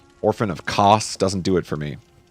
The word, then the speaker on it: Kos: And then Orphan of Kos. I guess we've learned the canon way to pronounce it is Kos, even though I like all of the other ways to pronounce it more.